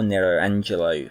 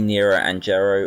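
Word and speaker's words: Nero Angelo: game or narrow Angelo depending on how you want to pronounce it for this game of the Isles now's Japanese interchangeable it could be nearer and Jarrow or it could be nello Angela wherever you want to go with really and I like Nero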